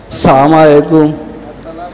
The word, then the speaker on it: আসসালামু আলাইকুম: দেই সালামের মধ্যেও ভুল কি কন আসসালামু আলাইকুম আসসালামু আলাইকুম সালাম শিখলেন না সবাই বলেন হামজার উচ্চারণটা ক্লিয়ার আসসালামু আলাইকুম আসসালামু আলাইকুম এই একটা